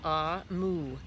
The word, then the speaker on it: Omu: made a little note note to the reader ah mu is pronounced ah mu and is the Igbo term for chrome which